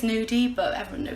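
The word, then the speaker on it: gnudi: actually classed as it's something called new D it's spelled GN u di and I think it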